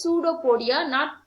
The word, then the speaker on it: pseudopodia: its false feet called pseudopodia here p is silent it must be pronounced as pseudopodia notopodia okay and then